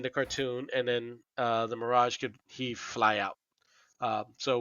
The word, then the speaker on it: Mirage: I know I'm probably pronouncing this wrong, which is Majra. Majra? Dwayne? Mirage. Mirage. Thank you.